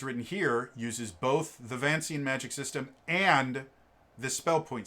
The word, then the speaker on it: Vancian: a hundred percent yeah no vancian not venetian vancian uh vancian wow i got that totally wrong i always pronounce it venetian in my brain i don't know why